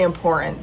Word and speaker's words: important: And that's really important to me. Oh, important. Make sure you pronounce both T's.